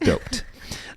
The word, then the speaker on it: duped: was duped oh Lord you have duped it's pronounced doped um so that our